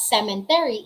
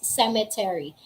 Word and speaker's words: cemetery: note of that pneumonia it's not sementary it's cemetery c-e-m-e-t-e-r-y that's it okay